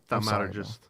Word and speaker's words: thaumaturgist: Thaumaturgist.